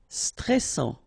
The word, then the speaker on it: stressant: Stressant, final T not pronounced, A-N together, en, and then double S, sans, and it will open the pronunciation of your E, so E. Stressant, stressant.